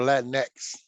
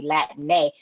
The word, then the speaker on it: Latine: It Latine is if you want to be consistent with how the language is spoken, it would be Latine, not spelled with an X, but spelled with an E accent because of the female masculine right. terms in Spanish.